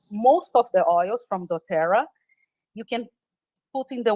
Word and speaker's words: doTERRA: And I know you work with a company called doTERRA. Is that how did I pronounce it Yes. correct? Okay. Yes. It's called doTERRA.